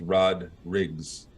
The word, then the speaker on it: Rodrigues: S on the end it's Portuguese um Portuguese lineage and it's pronounced Rod Riggs all right the rodriggs